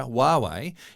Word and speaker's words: Huawei: for them well in China mobile phone manufacturer Huawei is about to team up with cherry Auto